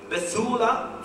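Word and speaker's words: בתולה: referring to Jesus now the Hebrew word for Virgin is beula forgive my pronunciation BT h u w l a h phonetically spelled the he uh when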